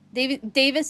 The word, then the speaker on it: Davies: Davis in pronunciation, Davies in spelling.